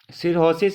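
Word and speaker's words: cirrhosis: ये काम होता है सिरोसिस इज अ लीवर कुछ लोग सिरोसिस भी बोलते हैं सिरोसिस भी बोलते हैं एच साइलेंट रहता है वैसे जनरली सिरोसिस इज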